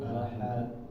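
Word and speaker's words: أحد: Nah, kesalahannya adalah ketika dia membaca qalqalah itu ditambahin hamzah. Maksudnya apa hamzah di sini? Hamzah mati ya maksudnya. Jadi ketika membacanya qul huwallahu ahad, nah, kita rasakan di sini ada rem ya di sini, ada stop, ada yang stop di bawah sini ya. Nah, ini adalah kekeliruan ya Bapak. Jadi jangan ditambah hamzah.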